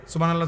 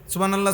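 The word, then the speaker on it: سبحان الله: হা এটা হলকের মধ্যখান থেকে উচ্চারিত হইতে হবে। সুবহানাল্লাহ সুবহানাল্লাহ করলে হা তো উচ্চারণ হয় না, এটা অশুদ্ধ।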